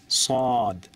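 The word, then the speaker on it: صاد: আবার ট্রাই করুন ফা আলিফ বা তাছা এরপর সদ সদ সাদ না সদ সদ আপনি স তারপরেন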